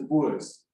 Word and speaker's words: Boers: They were referred to how they pronounced it by the British was the Boers.